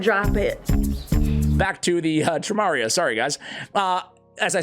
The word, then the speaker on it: Tramaria: Even some of you guys telling me that my pronunciation is wrong. It should be Ramaria. So I checked ChatGPT, which is always right. You know that, right? Always right. And they say it's Tramaria.